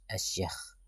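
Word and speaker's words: أشياخ: Bacanya asyakh.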